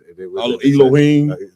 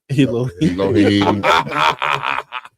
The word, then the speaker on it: Elohim: Oh man, they even got something I can't even pronounce, Cap. Elohim. Elohim.